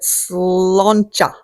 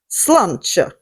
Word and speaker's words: sláinte: Sloncha. Sloncha. Let me spell that for you too. Sloncha. So, raise a glass, get your Guinness, sluncha.